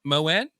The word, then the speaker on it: Moen: Moan, Moen, just like Moen.